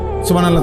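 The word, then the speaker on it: سبحان الله: পরে এটারে মেশিনের মতো সুবহানাল্লাহ সুবহানাল্লাহ সুবহানাল্লাহ সুবহানাল্লাহ সুবহানাল্লাহ, কিচ্ছু হয় না। এটা হা উচ্চারণ না হলে তো তাসবিহ হয় নাই। শেষের গোল হাটা সাকিন করতে হবে এবং প্রত্যেকবারই নিঃশ্বাস ফেলতে হবে।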